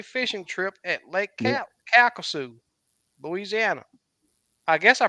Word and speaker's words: Calcasieu: Calcasieu, Louisiana. I guess I pronounced it right. Yeah, Calcasieu.